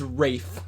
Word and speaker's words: Ralph: It's like Ralph just jumps in from the corner. Wait, what's his name? Is it Ralph? It's Rafe. Rafe. It's spelled Ralph, but he goes Rafe.